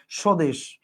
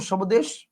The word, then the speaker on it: স্বদেশ: বফল আছে আপনি কি বলেন সবামী বলেন না স্বদেশ আপনি কি বলেন সবদেশ বলেন না আপনি বলেন স্বদেশ মানে এইটার বফলের উচ্চারণটা কি ক্ষীণ আর এইটার বফলের উচ্চারণটা কি